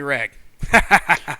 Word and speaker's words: Rag: you can just call me rag ra rag like with a hard G will'll do uh Lance